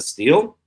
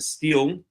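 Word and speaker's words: stele: and a steel or stelle I think it's really pronounced but I always pronounce a steel.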